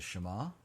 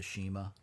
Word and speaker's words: Shema: referred to as the shema not the shima okay it's hebrew folks pronounce it like hebrew um this is one